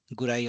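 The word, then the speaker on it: くらい: Then what's the difference between daitai and gurai or kurai? Oh, again, gurai and kurai may be interchangeably used. This is just the pronunciation differentiation.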